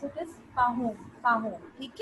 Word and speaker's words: Pahom: Paham is a hard-working farmer who is happy with his achievements. Beta, wait, we are going to pronounce it as Pahom.